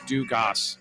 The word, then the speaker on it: Dugas: That guy's last name is pronounced Say, and there was one other, it was Dugas, and I was like, is that like Alexander Dumas? And he's like, Dumas? But he's like, no, it's Dugas.